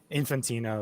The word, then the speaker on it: Infantino: Infantino is how everybody's heard it.